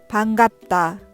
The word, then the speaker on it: 반갑다: 会えて嬉しい。반갑다。